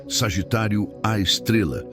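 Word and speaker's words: Sagitário A*: Pronunciado Sagitário à Estrela, embora seja qualquer coisa menos uma estrela.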